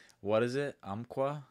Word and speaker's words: Umpqua: Umpqua? Umpqua, yeah. Do you know how to spell it?